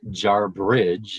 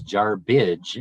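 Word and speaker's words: Jarbidge: of the this is a name that is butchered the most in nevada it is not jar bridge it is jar bridge and it is a native american derived name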